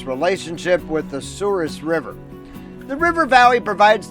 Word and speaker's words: Souris: the Mouse River locally, the pronunciation has been fully Americanized over the decades. The French would call it Souris, whereas North Dakotans have created their own pronunciation, Souris.